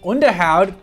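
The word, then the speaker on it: Onderhoud: that kind of thing underhoud which is how it's pronounced is uh touted lately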